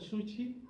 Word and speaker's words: sushi: sushi, o sushi, o realmente se dice, no con ch, como decimos nosotros. ¿Sabían eso? Que el sushi se pronuncia sushi. La SH japonesa es como Chile, así como ¿sí? Así se pronuncia. No es ch como Chile, Chile no, sushi.